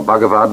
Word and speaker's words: Bhagavad: the spiritual classics of India the bhagavad-gita or Bhagavad the Lord Gita song the song of the Lord it is spelled vh AGA VAD bhagavad-gita Gita the song